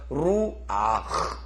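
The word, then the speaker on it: רוח: 여기 지금 마찬가지로 하트 밑에 파다를 취했기 때문에 파다를 먼저 발음합니다. 그래서 루아흐, 다시 베루아흐, 베루아흐, 예, 베루아흐라고 그래요.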